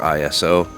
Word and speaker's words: ISO: There's some debate as to whether this is pronounced ISO or ISO.